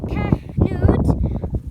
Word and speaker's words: Knut: An orphaned polar bear named Knut, pronounced Knut, born at Berlin Zoo in 2006, inspired a craze dubbed Knutmania, billed as the world's most famous polar bear.